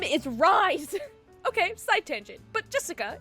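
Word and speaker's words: Rhys: Gosh dang it, Keki, his name is Rise! Okay, side tangent. But Jessica, if you are for some reason watching this by some miracle, why is it pronounced Rise when it is so clearly spelt Reese?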